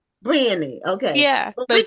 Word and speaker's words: Brionni: Um see, do you pronounce your name Brionni? Is that how it's pronounced? It's Brionni. Briony.